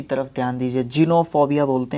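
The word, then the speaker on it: xenophobia: Spelling की तरफ ध्यान दीजिए और फिर प्रोनाउंसिएशन की तरफ ध्यान दीजिए। जिनोफोबिया बोलते हैं इसका मतलब क्या होता है?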